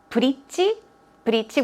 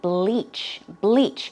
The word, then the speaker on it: bleach: I think we did say, I did hear a lot of bridge, which sounds like a bridge, B-R-I-D-G-E. That is not the word we're talking about. The correct pronunciation should be bleach, which means to make it lighter or brighter.